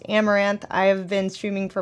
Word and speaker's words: Amouranth: guys I'm Caitlyn um stream name is pronounced amaranth I have been streaming